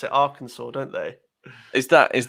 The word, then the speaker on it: Arkansas: more people comment about the way you say our kansas what what but it says arkansas it's i know but they pronounce it arkansas don't they is that is that correct it